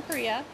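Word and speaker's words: cria: typically alpacas have one Kaa Kaa is the name of an alpaca baby it's spelled c r i a so haia is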